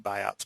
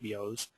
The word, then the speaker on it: Biot: hyperpnea chain Stokes respirations bios respiration it looks like biots but it's it's appropriately pronounced bios um Cals respiration and